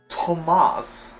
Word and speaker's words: Tomas: the Decades it seems Tomas I'm sorry that is apparently the way to pronounce his name well I guess there's no h after the te he's just trying to